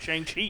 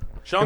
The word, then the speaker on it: Shang-Chi: Because we have Shang-Chi 2 Fuck. coming up next. Shang-Chi! Ah! He's so close, Glenn. Shang-Chi!